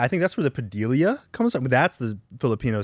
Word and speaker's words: Padilla: Some people say Padilla. I'm like, where did you get that extra I?